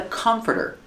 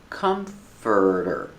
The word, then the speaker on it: comforter: This is a comforter. Pronunciation, comforter. Comforter. The stress is on the first syllable. It's 3 syllables.